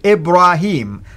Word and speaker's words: Ibrahim: it's actually with Daya the way the Quran pronounced it Ibrahim so go ahead and elaborate on this brother